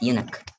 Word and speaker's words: eunuch: Eunuch in the court of It's eunuch. It's pronounced eunuch.